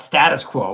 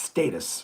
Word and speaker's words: Status Quo: Or for the band Status Quo, it's not Status Quo, which a lot of North Americans say. It's Status, right?